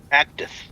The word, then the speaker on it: Actith: Active. It's like me. It's like cactus, but not. It's active.